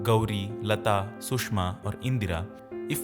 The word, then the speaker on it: Gauri: Almost all Indian female names would actually end in a longer syllable of A or E called Dirgha Swaras. For example, the name Geeta would in fact be Geeta. Gauri should have been Gauri and Prabha should have been Prabha.